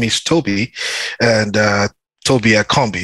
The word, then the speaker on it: Tobi Akanbi: is Toby and uh Toby at Combi it's just like the same way Tim pronounced it down here and um